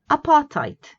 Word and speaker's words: apartheid: There isn't a D in the pronunciation, there's a D in the spelling, not in the pronunciation. Apartheid.